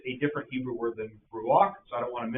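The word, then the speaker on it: רוּחַ: And Baron Kirchhoff said it best when he said that Hebrew word is ruach, and you're supposed to pronounce it ruach.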